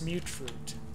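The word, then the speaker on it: Mutfruit: No, it's mute fruit. In fact, there's even people who pronounce it in the game, and they pronounce it also mute fruit. beauty fruity. As in mutation.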